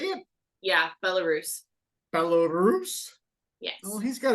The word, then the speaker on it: Belarus: Yeah, Belarus.